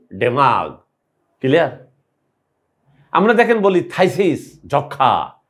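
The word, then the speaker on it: phthisis: এই থাইসিস রোগটার বানানটা, থাইসিস বানানটা কোনো রকম মিল নেই উচ্চারণের সাথে। আমি এখন বলছি, একটু খেয়াল করেন, আর কখনো ভুলবেন না। ফ ইহা হয়, পি এইচ ফ, দিস মানে ইহা, ইজ মানে হয়, হয়ে গেল থাইসিস।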